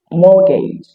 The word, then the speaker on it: mortgage: Silent T also appears at the middle of several common words like Christmas, Christian, mortgage, chestnut, and hasmalt.